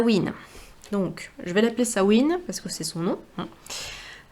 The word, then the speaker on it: Samhain: qui à la base s'appelle sawin qui s'écrit S a M de maman sawin c'est une fête celte